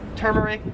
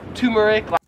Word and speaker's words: turmeric: So I would pronounce this as turmeric. However, in Australia, they would pronounce it as turmeric. That's what I would say. I didn't even know there was an R in that.